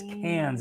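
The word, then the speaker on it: Cairns: it it looks like K KS but it's cans is the way they pronounce it and what we do in cans so we went to heartley uh we did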